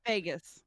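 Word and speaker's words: vagus: the the vergus nerve Vargus nerve however it's pronounced Vegas thank you I hear Vegas I think different spelling but moving on um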